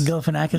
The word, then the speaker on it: Galifianakis: Zach, how do you pronounce his name? Oh, Galifianakis? Galifianakis?